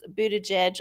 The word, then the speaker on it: Buttigieg: I'm guessing if you were speaking Maltese, which apparently he's from Malta, which is a teeny tiny little country in the Mediterranean that's got their own language, then yeah, he might be pronouncing it different. So I think Buttigieg is Anglicization.